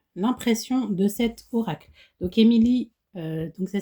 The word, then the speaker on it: Emy Lee: Donc Émilie, donc ça s'écrit E M Y plus loin.